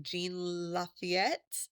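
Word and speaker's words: Jean Lafitte: Um, and hopefully I say the pirate name like Jean Lafayette, I believe is how that one is pronounced.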